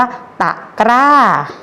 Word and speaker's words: ตะกร้า: ข้า ตะกร้า ต่อ อัต ตะ กอ รอ อะ กา ไม่ ถูก กล้า คำ นี้ อ่าน ว่า ตะกร้า เนื้อ หา ดู ค่ะ